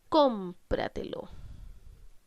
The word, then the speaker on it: cómpratelo: Y vamos con el último ejemplo, que dice cómpratelo. Cómpratelo. ¿Dónde estamos cargando la voz? En com. Por lo tanto, en la anterior a la antepenúltima sílaba, podemos decir que esta es una palabra sobresdrújula.